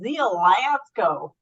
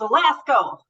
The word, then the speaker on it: Zielasko: I will say this: for the first year that I knew her, I pronounced her name Zielasko, but she corrected me a bunch of times. It's Zielasko with power behind it.